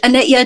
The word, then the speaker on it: Anitya: a little bit about your work is it Anitya? How do you pronounce it? Yeah, that's perfect. Anitya Doula Services. Anitya, I named my practice Anitya because it's Sanskrit and it means impermanence.